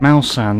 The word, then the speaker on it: Malsan: I pronounced that wrong. I'm good. I added an A in there and I created that name myself. Malsan, there we go. That's what I meant to say.